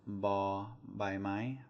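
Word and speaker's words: บ ใบไม้: So first of all, we have this one, ba by my, ba by my. Ba is a soft B sound. It's like a B sound.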